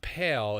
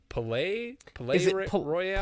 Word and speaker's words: Palaye Royale: It's not Pale. It's Palaye Royale.